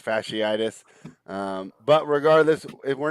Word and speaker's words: fasciitis: miss extended time with plantar fascist in his right foot plantar fasciitis i probably butchered that word yeah it's fasciitis um but regardless if